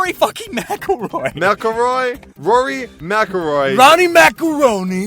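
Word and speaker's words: McIlroy: speaking of nerds I don't know how to pronounce this man's name is it melroy what no it's Rory mroy mroy Rory maoy Ronnie macaroni is a golf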